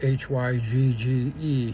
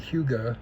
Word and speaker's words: hygge: That's the Danish word Hygge, Hygge, that's how she pronounces it.